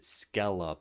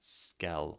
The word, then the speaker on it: skele: So, the reason I'd originally opted for skele points is because it sounds like skill, but if I if I type this out, you would pronounce it skella points and not skele like skill.